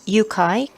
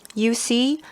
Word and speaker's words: UCAI: UCAI, or you could pronounce it UCAI, UCAI, user-centric artificial intelligence, and also it is branded UC because it also means you can see.